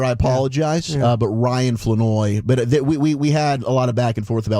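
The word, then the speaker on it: Flournoy: Well, the R is silent. It is Fenoy. It's not Florenoi. It's Fenoi.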